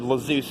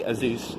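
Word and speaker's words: Azuz: I said Lazeus at one point. It's actually Azus, apparently.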